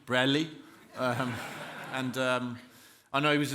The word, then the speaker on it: Bradley: the only man who pronounces my name without a D Bradley and I know he